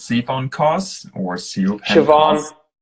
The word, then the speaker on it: Siobhan: Maybe it's Siphon Cos or Siobhan. Siobhan. All right, there we go. That is an Irish name. That's Siobhan.